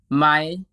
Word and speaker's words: ไหม: Let's start with ไหม ไหม The standard spelling and pronunciation according to traditional Thai writing is actually สระอายไม้มะลายหอหีบมอม้า pronoun ไหม ไหม This word is used to create general questions.